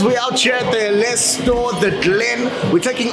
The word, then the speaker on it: Ellesse: It's Ellesse, okay?